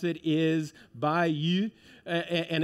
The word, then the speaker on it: Bayeux: I I think the best way I'm gonna pronounce it is by you and it's not it's by Joanne's back in the back and I know she's taking notes uh by you and and so it's not Bae but bye and then you and as she